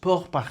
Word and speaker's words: pourparler: P meaning to speak pronounced po par in French example one the poor